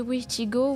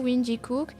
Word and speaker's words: Wendigo: La prononciation et l'orthographe du mot Wendigo diffèrent. Ça veut dire qu'il peut aussi se prononcer Witigo, Windikook, Atchen et plein d'autres.